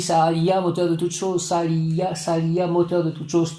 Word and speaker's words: Sehaliah: Sa-Aliya, on dit Sa-Aliya. On prononce Sa-Aliya, moteur de toute chose.